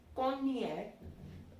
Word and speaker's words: Cognac: Like it won't be cognac apparently. It's cognac. Cognac.